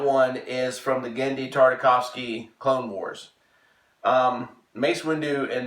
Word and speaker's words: Tartakovsky: right again beat I said it right Danny Tartakovsky yes Andy Tartakovsky mace Windu in that Clone